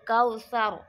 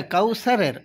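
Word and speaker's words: الكوثر: দেখি উলাইকা ইন্নাকাল কাউসার আচ্ছা কাউসারের র টা পুর হবে না বারিক হবে পুর পুর তাহলে র এর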